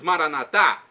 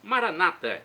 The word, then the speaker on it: Maranata: eu clamo do aramaico como dizemos nós católicos maranat ou como dizem nossos irmãos separados os evangelos ou protestantes Maranata não importa a pronúncia o significado é o mesmo Vem Senhor Jesus um